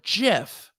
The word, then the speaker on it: GIF: death announcement he says correct pronunciation is soft g or jif kyra i'm gonna have